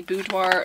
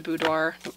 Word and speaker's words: boudoir: going to keep the boudoir boudoir come on maddie you took french you know you don't pronounce those ours the wine and only